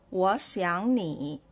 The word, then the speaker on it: 我想你: So when there are 3 third tones coming up together like this, the words in front should be pronounced as the second tone. Like in here, the word 我 and 想 should be read as second tone.